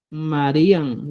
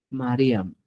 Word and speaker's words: Mariam: no vas a hablar Marian ya no vas a decir marían sino vas decir mariam ya para utilizar el validador es mariam te das cuenta Estas